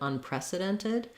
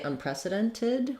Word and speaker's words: unprecedented: that tee off so same thing can happen in unprecedented they either might say unprecedented with a tid or unprecedented unprecedented so then it's going to sound more like nid at the end unprecedented um done it so I would say this one is probably a little clearer tid unprecedented but if you're feeling like this is what you're mostly hearing you can also try unprecedented unprecedented um yeah so